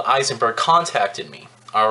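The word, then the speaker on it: Ayzenberg: They call it, it's pronounced, you know, it looks like Eisenberg, but they pronounce it Eisenberg, I guess.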